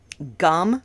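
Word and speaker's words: गं: I'll say it slowly it's om gum like chewing gum okay kind of pronounced that way it's a little little different but that's close enough okay om gum gone a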